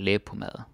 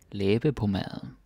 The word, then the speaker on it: læbepomade: Og læbepomade. Often we are too lazy to say the E at the end. Læbepomade.